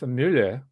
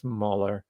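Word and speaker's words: Muller: Now, in supporting Diamond Dave's argument, because he keeps mentioning Hermann Josef Müller, or he was actually American, so I shouldn't give him the Germanic pronunciation. Hermann Joseph Müller, right?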